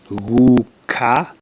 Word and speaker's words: guka: G, guka, grandfather. Gu. So it's a soft G.